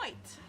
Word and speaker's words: noite: Or you can say bom noite. And Bonne noite? Bom noite. Bonne noite. How do you spell that?